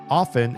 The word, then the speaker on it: often: And it turns out often is pronounced this way also.